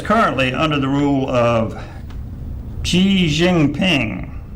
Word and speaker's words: Xi Jinping: rule of xi jinping i had to look that up how to pronounce it yeah xi jinping yes and uh there are several pronunciations in english language but that was obviously done by a chinese individual so i figured that was as close as anything my favorite joker they